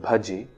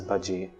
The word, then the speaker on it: bhaje: It is also important to pronounce the word bhaje with a bha sound and not with a ba sound as bhaje.